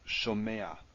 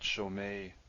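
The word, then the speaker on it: שׁוֹמֵעַ: You don't pronounce it after this consonant, you pronounce it before. So it's shomea, not shomei.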